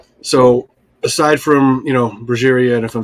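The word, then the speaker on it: Brujería: aside from you know brera and if I'm saying that wrong I'm sorry I think a lot of people say it different ways how do you say it is it bruha bruha bruh okay yeah um Cradle the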